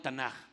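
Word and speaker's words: תנ״ך: Igual, ellos le llaman Tanaj o Mikra. Y esa palabra son 3 letras del Tanaj: la T, la N y la K, aunque se pronuncia como J.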